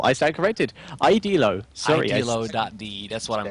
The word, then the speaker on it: Idealo: Idelo. Sorry. Idealo.de. That's what I'm gonna go with. That sounds right. Nice. Idelo sounds about right.